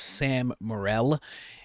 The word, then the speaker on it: Sam Morril: I believe his name is pronounced Sam Morril, and they are talking about Trump.